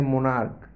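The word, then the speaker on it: monarch: ऐसे ही आगे है मोनार्क। तो मोनार्क में क्या? क आया उच्चारण, इसलिए यहाँ पे हम लोग सिर्फ एस को जोड़ के बना देंगे प्लूरल।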